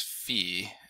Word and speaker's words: phi: and Kramer's V incidentally you can call this fee which would be more like the original Greek pronunciation or Phi is the more westernized